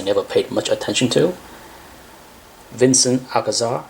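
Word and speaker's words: Vicente Alcazar: And to my surprise, because I never paid much attention to, Vincent Alcazar, that's how you pronounce his name.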